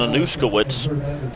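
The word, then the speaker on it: Anuszkiewicz: IE w IC z his name is jackson anouska wits but we will call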